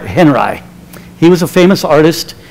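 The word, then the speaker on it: Henri: quote from Robert Henry some people tell me that should be Robert on me but he was from Nebraska and he pronounced it Robert Henry he was a famous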